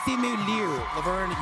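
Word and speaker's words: Simu Liu: simu Le now did I say that right simu Le you nailed it and whatever you say my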